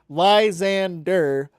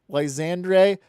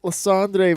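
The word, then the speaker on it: Lysandre: Lzand but it's not it's Lzander. Lzandre. It's then it's not Dur. It's Dre. D R E. So it's Lzander. So that's what I heard in the anime. So that's what I I pronounce. Well, that's I've been saying it Landre because I've been trying to speak French, but it's Lzander. I don't know.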